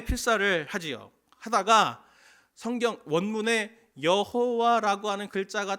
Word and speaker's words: 여호와: 수 있습니다 다시 그래서 여호와 라는 글자를 이렇게 했습니다 그리고 성경을 읽다가 라피 든지 유대인이 성경을 읽다가 여호와 라고 하는 이 글자 내 글자 가 나오면 자음 내 글자가 딱 나오면 여호와 라고 하는 발음을 하지 않고 아도나이 주님 이라는 뜻의 아도나이 라고 있고 넘어갑니다 그냥 왜 그런지 아십니까